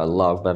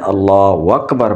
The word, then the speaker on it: اللہ اکبر: اب ہماری جو غلطی آ رہی ہے وہ آپ کے سامنے غلط اس طرح کا اللہ اکبر پڑھتے ہیں، اللہ اکبر، اللہ۔ السلام علیکم دوستو، کیسے ہیں آپ؟